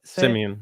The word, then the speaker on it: Simien: It's Justin Simien, right? Is that how you say it? Simeon, yeah. Simeon.